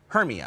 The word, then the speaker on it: Hermia: Okay, and maybe I'm saying the name wrong. Hermia, is that right? Hermia.